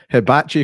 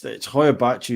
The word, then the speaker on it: Hoia Baciu: You're here to talk about the Hibachi Forest. correct. Did I pronounce that right? It depends. It's Hoia Baciu is like the English translation, but the word Hoia, I'll get into that later.